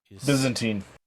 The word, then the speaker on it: Byzantine: Byzantine.